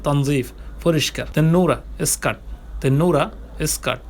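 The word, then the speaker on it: تنظيف: তনজিফ যেটা আরবিতে তনদিফও বলে, উচ্চারণ তনদিফ বলে, বা উচ্চারণটা সঠিক হচ্ছে তনজিফ, পরিষ্কার।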